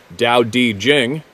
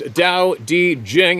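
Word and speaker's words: Tao Te Ching: man of the forest The Tao tea Chang States pronounced Dao di Jing there we go again why don't they spell it the way it says it sounds kidding pronounced Dao D Jing and I am paraphrasing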